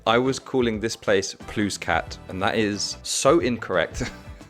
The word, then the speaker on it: Plouescat: This is how it's supposed to be pronounced. Plouescat.